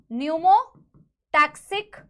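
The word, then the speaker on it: pneumotaxic: P is silent, न्यूमोटैक्सिक centre, ठीक है ना, PC, ओके।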